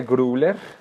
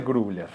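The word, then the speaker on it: Grübler: Es que no, es difícil ese umlaut. ¿Cómo es que es? U, como la U seguida a la I. U, Grubler, no sé, algo así.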